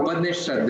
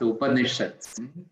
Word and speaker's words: Upanishad: That is from the original text, the Katha Upanishad, that is how it is pronounced, Upanishads.